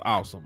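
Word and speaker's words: Asim: So it is pronounced Awesome.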